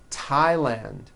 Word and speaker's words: Thailand: Although these next words and names are spelled with a TH, they are pronounced as if they were spelled with a normal T, like that. And these words are Thomas, Thompson, Teresa, Thailand, Thames, like the river, Esther, and thyme, which is a spice.